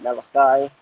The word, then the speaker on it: Malachi: The book of Malachi, or as most people pronounce it Malachi.